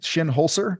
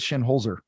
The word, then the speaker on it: Shinholser: nailed it you know I've heard your dad say it differently twice he says shin holser and I've heard Shin Holzer um from your dad